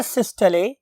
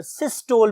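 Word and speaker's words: systole: अब बहुत से लोग इसे वेंट्रिकुलर सिस्टोल भी बोलते हैं, व्हाटएवर यू वांट टू से, बट एक्चुअल प्रोनाउंसिएशन इज सिस्टले।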